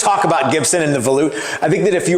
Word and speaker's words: volute: It's not pronounced volute. It's pronounced volute.